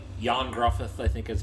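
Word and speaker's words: Ioan Gruffudd: uh it it's uh Welsh so it's not spelled it's not said the same way it's not pronounced as it's spelled it's it's like yon gruth I think is how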